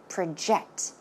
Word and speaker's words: project: one more time now in this case we are not talking about project as in a noun but it's used as a verb so how should it be pronounced project project ok project your name